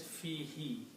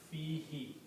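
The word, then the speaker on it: فيه: together, in the pronunciation, this who is pronounced as he in the tajweed, so it becomes fi he. Meaning does not change, but it is pronounced as fi he.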